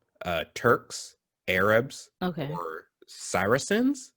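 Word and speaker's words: Saracens: turks arabs okay or cyrusens i think is how you say that word s-a-r-a-c-e-n-s um and the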